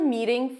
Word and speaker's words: meeting: The T is a flap T, so it sounds a little bit like a D. Can we schedule a meeting for, and then you say the time and day.